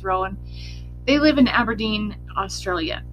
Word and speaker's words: Rowan: So her parents are Jack and Barbara Rowan, depending on where you looked for the pronunciation, but I'm going to pronounce it as Rowan.